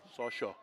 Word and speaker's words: Sasha: Well, that's an accent. Sasha. You have to say it like you're Russian.